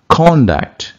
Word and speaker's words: conduct: முதல் சிலபில் இப்போ உச்சரிக்கிறது வந்து என்றைக்கும் நவுனு, ரெண்டாவது சிலபில் உச்சரிக்கிறது verb. Conduct, conduct.